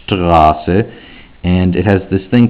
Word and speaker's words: Straße: It has ST, and it's not just pronounced st, it's pronounced Straße, Straße, and it has this